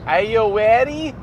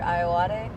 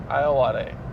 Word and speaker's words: Ayoade: Ayowari? No, I don't do that. I usually say Richard Ayoade. Ayoade.